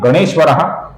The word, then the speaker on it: गणेश्वरः: अंतिम नाम है गणेश्वरः, ये ती भी ह्रस्व है, इसका हमें लघु उच्चारण करना है।